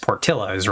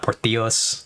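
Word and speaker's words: Portillo's: supposed to pronounce it, the double L in the Spanish Y or is it's it's just portillos, right? It's not portios, which is again what my brain wants to do every time I see that.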